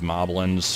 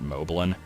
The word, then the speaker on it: Moblin: I always pronounced it moblin and it took me I think until that AVGN video to find out the correct way to say it and knowing now that it rhymes with goblin that kind of makes